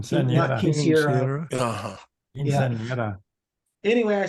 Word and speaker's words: quinceañera: So how do you pronounce it? Not Quinceañera.